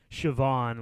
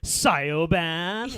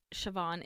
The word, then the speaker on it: Siobhan: And it's like, I don't want people mispronouncing my kid Siobhan, like Scioan.